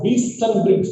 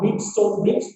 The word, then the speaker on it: Wheatstone: Derive the Wheaton, Wheaton, T silent there. We pronounce that as Wheaton Bridge, not Wheatstone Bridge, Wheaton Bridge.